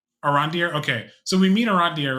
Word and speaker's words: Arondir: think it's Arondir. Arandir.